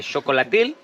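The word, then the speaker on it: xocolatl: And so the word chocolate comes from chocolatil. I can spell it in on the whiteboard maybe, but it starts with an X, chocolatil. And that was the Nahua pronunciation.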